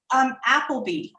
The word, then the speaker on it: Appleby: Appleby.